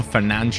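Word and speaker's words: Fernandes: at a 73 rating I guess because he's Portuguese it would be pronounced like Bruno Fernand as well so fernan welcoming to the Team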